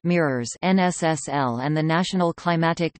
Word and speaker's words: MYRORSS: The multi-year reanalysis of remotely sensed storms (MYRORSS), pronounced MIRORSS, NSSL and the National